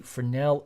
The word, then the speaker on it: Fresnel: and E L and don't forget the silent s it's French select the Fornell effect